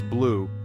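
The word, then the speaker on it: bleu: this beautiful color is blue or as we say in French BL pronounced blue notice how the e at the end is silent let's brighten things up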